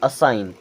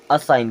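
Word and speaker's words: assign: अलाइन क्या होगा अलाइन ये क्या हो जाएगा असाइन क्या होगा असाइन क्योंकि जी होगा साइलेंट अब इसे पढ़ेंगे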